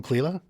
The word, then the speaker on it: Clela: Welcome, Clela. Thanks, Mark, and thank you for pronouncing my name correctly.